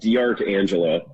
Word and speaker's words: D'Arcangelo: help how do you say entire life it's pronounced dr angela that's what i thought okay it's just one